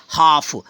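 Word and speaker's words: half: जैसे हाफ, यहाँ हाल्फ नहीं पढ़ना, जैसे कोई पढ़ता है हाल्फ, बट हाल्फ नहीं, इसको हाफ पढ़ेंगे गलत हो, इसको पढ़ेंगे हाफ।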